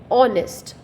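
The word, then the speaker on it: honest: एच ओ में भी ऑनेस्ट, like that, क्योंकि एच इसमें साइलेंट होता है।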